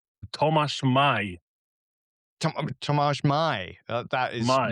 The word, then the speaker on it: Maj: So for our non-Polish listeners, how is your name pronounced? Tomasz Mai.